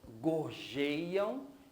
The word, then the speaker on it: gorjeiam: Então, nesse verso, eu tenho aqui gorjeiam, gei seria a sílaba mais forte e o ão eu desprezo.